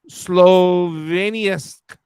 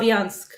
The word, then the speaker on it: Slavyansk: It places larger cities of Kramatorsk and Sloveniansk. Kramatorsk and How do you say it? Slavyansk.